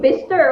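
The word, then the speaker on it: Bicester: Yeah, Bister Bister.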